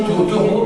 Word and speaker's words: Thoreau: Ah, ça s'écrit T-H-O-R-E-A-U. nom français. Oui, c'est Taureau, mais avec Taureau, c'est un nom français en fait.